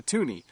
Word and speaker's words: toonie: we thought we would call it a toonie because it's worth two dollars and it rhymes with Looney slang for one dollar